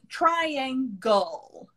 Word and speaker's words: triangle: L-E spelling, the pronunciation is all. So Oh. circle, Circle. right? So cir so we don't say, so Yeah. we say circle, Circle. circle. Circle. Triangle. Triangle. So we have the all sound.